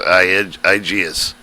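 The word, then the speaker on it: IGES: This is imported geometry for the transfer that usually happens with the Initial Graphic Exchange Specification, pronounced IGS.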